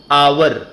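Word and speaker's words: hour: उसके साथ लगता है ह से कुछ शब्द स्टार्ट होते हैं और वहां ह ही साइलेंट होता है तो वहां भी एन का प्रयोग होता है जैसे शुरू होता है लेकिन इसका उच्चारण ए होता है एन अवर अब ए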